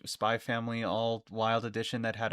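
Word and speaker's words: Spy × Family: It it is just pronounced spy family. I knew that. I Sometimes I just read it as Spyx family.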